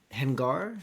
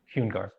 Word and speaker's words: Hungar: While they're passing through, is it Hengar? How do you say your name? Hungar.